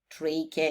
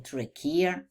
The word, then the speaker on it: trachea: The pharynx – это глотка, the larynx – это гортань, trachea или trachea, два варианта произношения. Трахея, обратите внимание, здесь звук к, trachea о trachea. И bronchi о бронки – это тоже звук к.